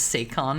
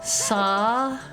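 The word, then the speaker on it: Sakon: Some people pronounce his name as Seikon, and it's so sad. I mean, I mean, given that it's a uh given that it's a Japanese game, it would be sacon.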